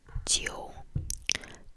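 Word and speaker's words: 九: 9 is jiu, jiu, jiu, jiu, J, I, U, jiu, jiu, jiu, jiu, jiu, jiu, jiu, jiu, jiu, jiu.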